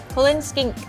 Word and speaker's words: Cullen skink: Cullen skink. That's how you say it.